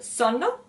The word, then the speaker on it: sonno: Now, when you pronounce the word sonno, make sure that you actually pronounce the double consonant, the double N of this word.